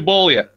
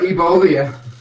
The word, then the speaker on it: Bolia: No, don't put E in front of the B. I heard Ebolia.